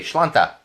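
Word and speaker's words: Sláinte: So on Saturday, impress your friends, and when they say cheers, say Shlanta. Just say it like that.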